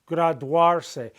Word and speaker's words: graduarse: Because the U and the A are two vowels together making one sound, a diphthong. Wa. Graduarse.